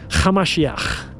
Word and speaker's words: Hamashiach: His real name was Yeshua, Hamashiach. That's how you pronounce it in Aramaic.